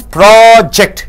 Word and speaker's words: project: When you stress the first syllable, it becomes project. It means a research. See, when you stress on the second syllable, ject, it becomes a verb.